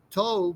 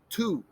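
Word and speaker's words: τοῦ: most of the time they make up a sound that sounds like a double o like in good all right so this is pronounced not toe but two all right so what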